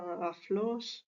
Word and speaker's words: aulos: Roma eran conocidos como el aulos tal y como se ve escrito eh se pronunciaría aflos pues eh No eran